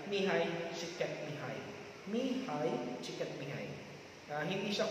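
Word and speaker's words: Mihaly Csikszentmihalyi: So, yung isa ay si Martin Seligman, yung isa ang basa nung sa kanyang pangalan ay Mihai Chiket Mihai.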